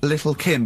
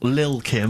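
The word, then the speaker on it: Lil' Kim: I see there it's a track by Little Kim but how are you pronouncing it I'm pronouncing that correctly Lil Kim oh no T's involved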